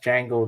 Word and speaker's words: Django: Ooh, it's actually pronounced Django. The D is Django, silent.